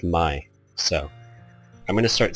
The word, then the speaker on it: May: game um was saying May was actually pronounced my so I'm going to